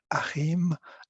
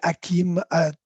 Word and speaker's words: Harim: toutes et à tous je m'appelle Harim Harim un nom très difficile à prononcer pour les francophones sauf pour Caroline et Agnès bien sûr on appelle Hakim Hashim ou selon les préférences et c'est vrai Caroline